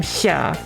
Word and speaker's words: Xia: So how it's more like you're trying to say S and sh at the same time. Xia.